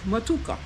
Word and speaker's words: Matooke: Okay, so that's a really good dish, matuka. So might not have the correct pronunciation, all right, but it's spelled Matooke. Okay, it's a good dish.